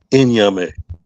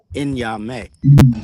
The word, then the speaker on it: Nyame: I can't pronounce it. You talking about me? Yes, sir. Nyame. Nyame.